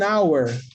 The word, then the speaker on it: hour: Então, é por isso que eu tenho an hour. Por quê? Porque o H da hora, nesse caso, no inglês, é mudo.